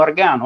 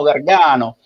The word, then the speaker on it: Gargano: aveva perso il filo, lo pronunciai per come l'avevo scritto, cioè Nino Argano, e lui si mise a ridere quella volta e disse ma no, dice, questo si chiama Antonino Gargano, però diciamo, come ha